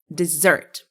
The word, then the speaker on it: dessert: Okay, which one do you pronounce like dessert? The first one or the second one? The second one, dessert.